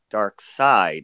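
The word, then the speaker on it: Darkseid: spelled is more dark seed s EI D dark side it's pronounced but wow this is an interesting thought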